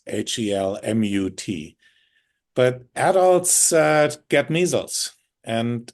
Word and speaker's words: Helmut: Helmut Albrecht, I'm not spelled like the helmet, which even you did, Tammy. It's Helmut.